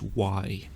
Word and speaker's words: J: Remember that in German, J is almost always a soft J, so it's pronounced like in English, Y.